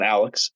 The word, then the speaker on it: Alex Pereira: T him and Alex uh sorry Alex not Alex Alex that's the correct way to pronounce it I learned that recently uh he